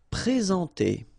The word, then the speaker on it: présenter: Okay, remember when we get this accent aigu like that on the top of sorry, then you should pronounce it e. All right, and then you combine the two n nasal en.